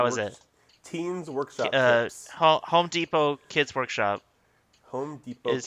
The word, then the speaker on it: Home Depot: was a kid i always called home depot homo depot did i ever say that before that's that's